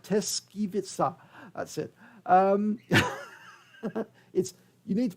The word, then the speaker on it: Tyszkiewicza: to say it again to get it right, Tyszkiewicza, that's it. You need to pronounce it, and I have to repeat it again and again to get it right.